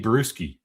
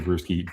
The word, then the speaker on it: Bruschi: This guy's name is Teddy Bruschi, B R E W S K A S K I. Spelled like beer, you know, a brew.